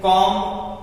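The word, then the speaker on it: comb: क्या होता है समाधि इधर देखिए कॉम यम के बाद बी आया तो बी साइलेंट कॉम कॉम का मलब कंघा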